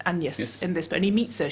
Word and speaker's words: Agnes: is called and yes it's about Agnes but once it's pronounced and yes in this Tony meets